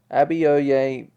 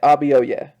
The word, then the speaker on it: Abioye: yay oh and they've pronounced they are ah ah b r wait rb oh yeah so that's how you say it rb oh yeah okay the legend of